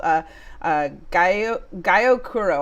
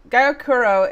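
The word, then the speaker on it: gyokuro: go for something called a guy okuro I probably butchered that but it's gyo k-u-r-o or of course matcha so uh gayakuro is shaded for three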